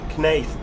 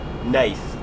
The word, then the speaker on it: Knaith: is it snath park knaith park nath i imagine that's probably you know like ninth it's probably a silent k isn't it yeah nath park now that could